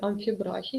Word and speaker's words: амфібрахій: з наголосом на першому у слові амфібрахій наголос всередині слова ви бачите це підкреслено